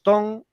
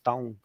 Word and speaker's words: Taung: Los Tong, yo me refería a ellos en el anterior directo como los Taung, ¿vale? Sí, yo me acordaba de eso, profe. Son los Tong, ¿vale? No sabía cómo se pronunciaba bien.